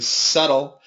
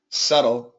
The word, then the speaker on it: subtle: different snooping around investigating subtle the B is silent subtle subtle flap t to emphasize